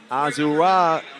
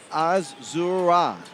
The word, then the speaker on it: Azura: Azurra Stevens. I didn't realize I was saying her name wrong until one of the viewers messaged me earlier and said, "Hey, ladies and gentlemen, you messing the name up." So, Azura Stevens, sorry.